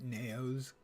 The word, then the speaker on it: Naos: catch a meta in naos nios potatoes potatoes I know I should I'm going to pronounce try to remember to pronounce it naos because it rhymes with mayos let's see well we've